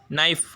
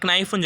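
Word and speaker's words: knife: அப்போ கே சைலெண்ட்ல இருக்கு எக்ஸாம்பிள்ஸ் பாருங்க நைஃப் இந்த இடத்துல நைஃப்ங்கிறது நம்ம என்னதான் உச்சரிக்கிறோம் என்ன தான் உச்சரிக்கிறோம் லெட்டர் என்ன தான் உச்சரிக்கிறோம் கே என்ன போட்டுருக்கோம் கே சைலென்ட்ல இருக்கு நைஃப்னு சொல்லல நைஃப்னு சொல்லல நம்ம என்ன சொல்றோம் நைஃப் ஐ ஹேவ் நைஃப் நைஃப்னு தான் சொல்றோமே தவிர கைஃப்னு சொல்லல அப்ப கே சைலென்ட் அது மாதிரி நோல பாருங்க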